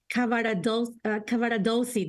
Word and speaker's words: Cavaradossi: He's going to be Cavaradossi, that's how you say it, I'm sorry.